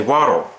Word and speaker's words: water: speech impediment, even though the T in the word water is pronounced as a soft D. If you go in the dictionary, it is pronounced as a D, not a T. You're not supposed to say water. You're supposed to say water. That's the correct way of saying it.